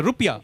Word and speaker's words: rupiah: their currency is the rupiah which is actually the correct pronunciation more than ours airline airlines as Garuda